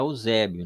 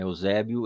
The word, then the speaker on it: Eusébio: o livro do apocalipse não é Ozébio né Eusébio ele transcreve as cartas